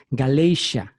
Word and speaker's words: Galatia: De hecho, la palabra, les voy a adelantar, en inglés, Galacia se dice Galatia, Galatia. Se escribe Galatia, se pronuncia Galatia, y de esa palabra